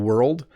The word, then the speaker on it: world: But world, we've put an R and an L and a D beside each other with no vowel in between them.